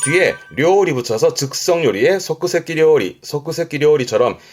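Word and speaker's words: 即席: 발음은 소끄세키. 즉석이라는 건 보통 뭐 즉석카레라든가 말하자면 인스턴트죠. 그래서 뒤에 료리 붙여서 즉석 요리에 소끄세키 료리처럼 이 소끄세키라면 즉석, 인스턴트의 느낌이긴 한데요.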